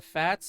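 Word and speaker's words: FAZZ: Funny enough, the Fats is spelled F-A-Z-Z, as in full armor Double Zeta. But it's called the Fats. Don't ask. Just don't ask.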